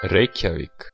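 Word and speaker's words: Reykjavík: Instead, if you see us do this, Reykjavik. one of our producers will be inserting the right pronunciation for us.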